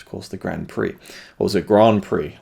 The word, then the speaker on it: grand prix: it was called a grand prix but it's of course the grand prix or is it grand prix i don't think you even pronounce the d in grand it's just a grand prix and i would just